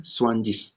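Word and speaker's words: zwanzig: तो 20 का जर्मन शब्द होता है स्वांजिस, ठीक है, स्वांजिस, ठीक है, स्वांजिस होता है ना, ठीक है, जिस, स्वांजिस, स्वांजिस, ठीक है।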